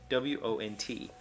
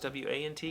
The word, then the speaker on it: won't: I guess I thought it was W-A-N-T because I've always heard it pronounced want. But this is like want, is how it's won't.